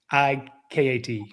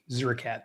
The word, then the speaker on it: Zureikat: And then this kicker, pronounce his name, Zuka. I want to look at it. I want to get it right. Haran, Haran, Zurikat. Zurikat. This guy here. Zureikat, Zurikat.